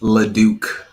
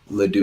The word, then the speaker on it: Leduc: Breaking news: Lance's name is pronounced Leduc. Leduc. It is Leduc.